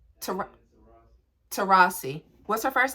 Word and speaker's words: Taurasi: digging and how you say her name babe to Rossi to Rossi what's her first name Diana thank you so